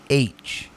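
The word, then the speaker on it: Aitch: just the letter H they spell it a-i-t-c-h but they pronounce it h uh-huh makes sense backwards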